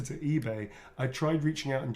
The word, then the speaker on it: eBay: Little e, big, yeah, and just put it, and the B is not silent. It's eBay. This is for eBay.